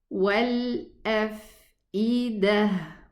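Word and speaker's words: وَالْأَفْئِدَة: What about this ta? This ta, when it's written like this, it works on both sounds. The sound of the ta and the sound of the ha. If I stop here, it's going to be pronounced a ha. But if I connect, it's going to be pronounced a ta.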